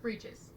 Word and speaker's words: breeches: and dark breeches. Cool. Get it? You got it. You good? Breeches. I get the concept. Rhymes with leeches.